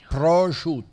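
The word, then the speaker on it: Prato: They cut off the vowel at the end. Proto, right? The end is a O at the end. Proto. Yeah. Yeah. It's a three syllable.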